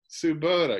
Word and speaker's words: Tsubota: pronounce your last name suboda subota because it's it's spelled differently japanese like tsunami okay okay great well